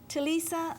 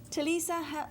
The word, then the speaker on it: Ti'Lesa: Talisa. Talisa, did I finally get it right again?